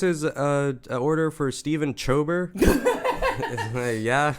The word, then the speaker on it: Schieber: Today we have Stephan Schieber. That's right. I'm pronouncing the R at the end.